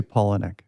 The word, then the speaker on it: Palahniuk: By the way, what's the best way to pronounce your last name? Because I've pronounced it 17 different ways this past week. We say Palahniuk.